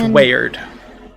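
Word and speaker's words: Weyard: the name wayward uh spelled by the way for those note takers w-e-y-a-r-d we yard we yard but it's pronounced weird and so Nessa kind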